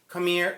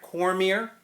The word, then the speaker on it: Cormier: two players and it was designed by Jay c'mere Cormier like pronounce it correctly and send foon limb this